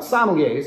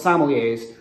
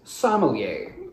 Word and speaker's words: sommelier: few people calling themselves sommeliers seem to actually have let's start with a note about pronunciation in france the correct pronunciation is sommelier scanning metrically somewhere between the words castaway and everyday in rough and ready